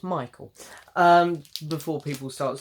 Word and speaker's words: Michael: I do know how to say his name, it's Michael.